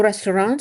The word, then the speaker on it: restaurante: The first E in restaurante should be mute. It's tempting to pronounce a word that is similar in your native language with the queen in the same spot, but you'll be understood if you pay attention to where we put the queen in Portuguese. Restaurante, the penultimate syllable.